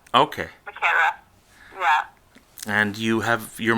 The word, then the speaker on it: Macera: It's the Italian way. It's technically Macera. Okay. Macera.